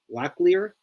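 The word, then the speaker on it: Locklear: For the Diamondbacks is this guy named Tyler Lleier. Did I say it right? Lleier.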